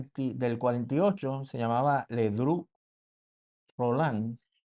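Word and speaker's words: Rollin: Segundo, dice con otro político de la revolución del del 48, se llamaba Ledru Rolán, se escribe Rolín, pero se pronuncia Rolán.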